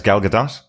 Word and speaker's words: Gal Gadot: The movie stars Gal Gadot, Is it not Gal Gadot? Weirdly, I think she actually pronounces it Gal Gadot.